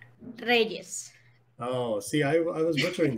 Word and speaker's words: Reyes: Reyes.